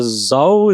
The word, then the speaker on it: Zo: So Zho is actually how is pronounced. Okay. And uh Zho means elephant in Japanese.